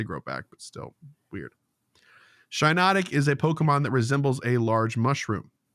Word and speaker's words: Shiinotic: Shiinotic. Like shiitake. Like shiitake. Oh, really? Yeah. I thought it was spelled the same way, 2 eyes. I thought it was Shiinotic. I think I did too, and then I realized one day I was like, wait, it's like the mushroom.